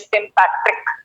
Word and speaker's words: sympatric: अच्छा जी, सबसे पहले देखते हैं आपका सिम्पैट्रिक। सिम्पैट्रिक, पैट्रिक बोले, पाट्रिक बोले, ठीक है, whatever you like, but the सही pronunciation is sympatric.